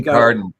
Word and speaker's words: Kincardine: Car Car in Kincardine, um is actually Kincardine, Kincardine. Yeah, Kincardine. Yeah, I just twisted it as I as I tried to pronounce it and then and then tried to